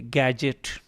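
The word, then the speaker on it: gadget: What is that गैजेट anyway, गैजेट, ठीक है, लफ्ज़ है गैजेट। डी जो है ये आप इसको साइलेंट कर जाएंगे, और ये जो दूसरा जी है इसको जीम, जीम की आवाज़ निकालेंगे, और जो पहला जी है इसकी गाफ की आवाज़ आएगी।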